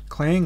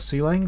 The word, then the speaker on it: Clang: compiler names you'll see a clang or ceiling depending how you what pronunciation you prefer and gcc in fact